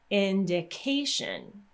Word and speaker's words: indication: lot easier to implement when we have a word with a tion ending we're simply going to stress the syllable right before so tion we're going to stress the syllable right before that ending so we're going to say indication so the syllable with K is going to get stressed indication so again when